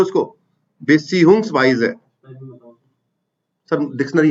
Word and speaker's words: Beziehungsweise: Respectively है ना, full form लिख लो उसको, बेसियुंग्सवाइजे।